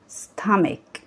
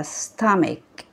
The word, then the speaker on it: stomach: stomach. نركز في نطق الكلمات كويس. stomach. شايفين سي اتش اللي في النهايه نطقناها ك ك ك، فنقولها كده ستامك ستامك.